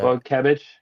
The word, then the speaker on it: Wojcikiewicz: Oh, it's a Wojciech. Okay. James Wojciech. Wojciech. But it's spelled WOJCIKIEWICZ.